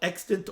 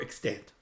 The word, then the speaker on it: extant: be excellent or extent proper pronunciation by the way is either way both are acceptable extant or extent okay medina says says that